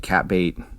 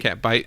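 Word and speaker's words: Catbite: then you've got the Cat Bait. I did pronounce that right? Or is it Cat Bite? Cat Bite. Thank you.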